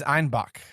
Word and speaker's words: Einbeck: to the Bavarian accents citizens of Munich pronounced einbeck is ibach or billy goat and thus the beer became known as Bach and a goat appears